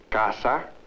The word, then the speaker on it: casa: In Spanish, there are words like sol, casa, with the s sound.